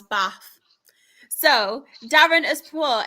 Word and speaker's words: Bath: Um not about Stevenage, about um how you pronounce Bath. So Darren has put it's pronounced Bath. B A F. Yes, I agree. Mr. Luke has put there isn't any R in bath.